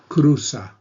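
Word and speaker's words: cruza: as crossing the street Kusa remember the Z is pronounced like an S Kusa is studia EST studia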